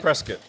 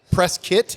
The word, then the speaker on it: Prescott: Prescuit. Prescuit. Pres. Preskit. And I wouldn't pronounce it like that for a long time because I'm like, that's not how it's spelled.